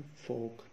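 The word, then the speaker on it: folk: उसके बाद है फोक, एफ ओ एल के, इसमें एल साइलेंट, लफ्ज है फोक, एफ और के, ओ के लिए डैश शेम।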